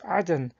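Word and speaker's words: عدن: example in Quran 988 the term Eden is pronounced as Adan in the Arabic According to Islamic ESC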